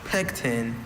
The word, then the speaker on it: pecten: Pecten. And it still has that schwa.